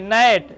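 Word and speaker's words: gnat: Silent होगा। तो भैया क्या पढ़ेंगे? नेट।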